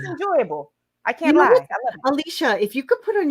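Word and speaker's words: Alysha: stick with us draw all my teachers called me i'm like no it's alicia thank god for alicia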